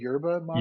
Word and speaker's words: yerba mate: do you say it yurba mate or you do say you do pronounce the Y the why correct okay